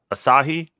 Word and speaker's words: Asahi: say that how do you say that beer asahi yeah so i bought there was this one